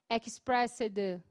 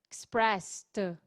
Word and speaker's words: expressed: Nós falamos com som de T no final, expressed.